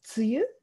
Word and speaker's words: 梅雨: これはこの読み方分かりますか ? で、梅雨ですね。